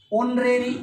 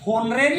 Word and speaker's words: honorary: ऑनरेरी अवैतनिक होता है ना, तो देखो एच है, और होनरेरी होना चाहिए था स्पेलिंग के अकॉर्डिंग, तो है ऑनरेरी, ऑनरेरी HONORARY, ऑनरेरी होता